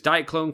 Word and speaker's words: Diaclone: I used to think diaclone was neat, but Diaclone. You'd say it like that.